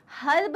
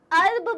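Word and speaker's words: herb: आप थाइम डालते हो थाइम एक अर्ब है हर्ब नहीं बोलेंगे अर्ब बोलेंगे एट साइलेंट है गाइज ओके और टाइम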